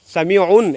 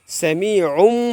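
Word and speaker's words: سَمِيعٌ: করতে হবে, ওই সামিউন, এখানে উন হওয়ার কথা। আমরা জানি যে পেশের 2 পেশের উচ্চারণ হয় কি নুনের মতো উচ্চারিত হয়। তো এখন এটাকে বাদ দিয়ে কী বলতে হবে, এই আইনের 2 পেশ কি ধরবে, কাকে, ওই মিনকে ধরবে, সামিউম বলতে হবে।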